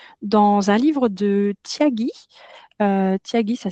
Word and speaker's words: Thiagi: Tyagi, ça s'écrit comme ceci.